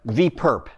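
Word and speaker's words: V⊥: So you may know in linear algebra, if that's a subspace, then you have V perp. That's how you pronounce this.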